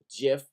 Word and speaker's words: GIF: dot gif file okay you spell it gif but it is pronounced jiff like the peanut butter chip and this shows me